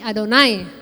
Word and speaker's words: Adonai: Sehingga ketika mereka ketemu huruf ini, 4 huruf ini YHWH, mereka membacanya bukan Yahweh tetapi Adonai ya.